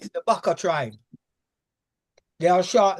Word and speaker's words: Baka: Baka. Baka. Do you mean Bayaka? No. Baka. The baka. Try. Baka. Baka. B. Spell it.